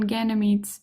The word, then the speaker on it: Ganymede: These names or the names of these moons are spelled in Italian and in English with a final e in Ganymede's name uh which is silent and that is different from later moon names that are taken from Latin and Greek.